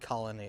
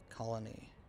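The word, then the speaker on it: Colonie: Albany's not very far, but for the actual proper town I'm in, it's called Colony. C-O-L-O-N-I-E. Colony. Some people think it's spelled like the normal way, but not quite.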